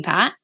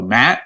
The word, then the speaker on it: Pat: Pat it's pat because people go Matt I'm like no Pat okay I should probably